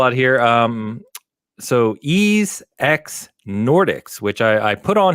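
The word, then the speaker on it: Ys X: Sorry, if you're a PlayStation guy, you have to pronounce it East Cross, I believe.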